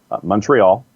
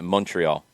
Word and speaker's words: Montreal: Montreal.